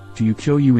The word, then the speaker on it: Tokyo: For example, Tokyo, to Ukyo in Japanese, is 4 moras but 2 syllables.